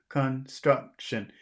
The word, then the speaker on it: construction: I disagree with you I think it's the middle syllable struck struck struck Construction Construction can you say it like that Construction Construction Construction say it again Construction